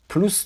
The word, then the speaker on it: plus: ça a duré plus de بیش از. اینجا پلوس رو اسش باید بچه ها تلفظ کنیم.